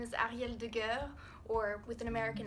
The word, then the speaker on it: Arielle: My name is Arielle Deguer, or with an American accent, it's pronounced Arielle Deguer.